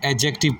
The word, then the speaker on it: adjective: है याद रखिएगा कि एडजेक्टिव लिखा जाता है डी के साथ लेकिन जब आप इसको प्रोनाउंस करेंगे इस लफ्ज को पढ़ेंगे आपने डी को साइलेंट रखना है आपने एडजेक्टिव पढ़ना है डी को साइलेंट रखना है डी यहां पर खामोश है इस वर्ड में आपने सिर्फ जे को प्रोनाउंस करना है एडजेक्टिव के साथ आपने